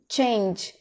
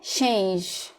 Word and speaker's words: change: O CH em inglês é como se fosse um T com um X. Ele faz um som diferente. Né? Por exemplo, change, change. Não é change. Que mais?